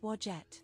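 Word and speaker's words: Wadjet: Her name is pronounced wajette.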